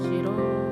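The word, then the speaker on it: 싫어: Jadi hanya pindah kemari jadinya sil dan ho. Shiro. Atau lebih tepatnya gimana? Shiro. Hanya itu dibuang. Ya. Shil ho. Jadi h dibuang jadi dibacanya shiro.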